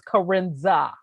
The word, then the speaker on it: karenza: right here everybody know the enunciation of my name is karenza that's how you pronounce but i don't care